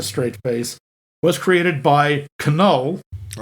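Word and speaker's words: Knull: face was created by Canal I know it's null but it's spelled with a K because I don't know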